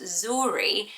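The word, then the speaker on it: Zhuri: popular seven the girls was zory spelled like this with the z-h-u-r-i that is gorgeous isn't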